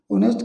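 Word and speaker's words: honest: पर आई है noun ऑनेस्ट क्या आपका एडजेक्टिव और एडजेक्टिव के बाद में आपका क्या आता है नाउन तो एन ऑनेस्ट एस साइलेंट रहेगा एन ऑनेस्ट परसों हो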